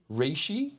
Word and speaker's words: Reishi: Reishi.